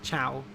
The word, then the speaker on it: ciao: uh it's pronounced like ciao yeah um or zhao would be a better pronunciation it means hello and goodbye in italian i believe and um so that ci in italian is a cha sound so another example would